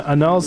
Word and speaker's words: annals: Annals sounds like annuls.